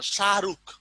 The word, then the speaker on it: শাহরুখ: ওটা যদি আরেকটা এক্সাম্পল হয়, তারপর শাহরুখ, এটা আমরা কি বলি? এরে শাহরুখা, শাহরুখ। দেখেন হটা কিন্তু আমরা উচ্চারণ করি না, অন্তর্হতি।